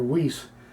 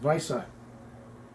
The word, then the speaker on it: Weisse: Like we would pronounce the beer Weiss, but in Germany it's pronounced Weisse, like Visa with a long I.